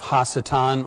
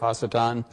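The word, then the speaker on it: ha-satan: a number of reasons not the least of which is the fact that it's not anglicized and also normally in the past as i discussed the figure of hachitan and the rise of hasitan sort of the long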